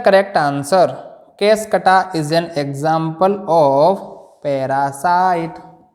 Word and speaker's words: Cuscuta: तीसरा है कैसकटा, इसकी स्पेलिंग सही कर लेंगे, CUSCUTA, कैसकटा।